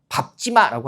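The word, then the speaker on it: 밟지 마: 근데 정확히는 거기 밟지마가 아니라 뭐라고 해야 돼요? 밥지마라고 하는게 정확한 겁니다.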